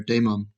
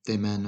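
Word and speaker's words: Daemen: Um, my understanding, Oliver Damon. Um, the Damon, I think it's pronounced.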